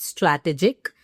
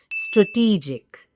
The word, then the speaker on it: strategic: No, that's wrong. It's not strategic. Actually, the word strategy misleads us. Yes, the word is strategy, but strategic is incorrect. The correct pronunciation is strategic.